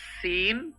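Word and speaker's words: سين: হবে সাব্দ করবে শিন এটা সিন এমন চিকন একটা শব্দ এটা শিন আমরা এগুলো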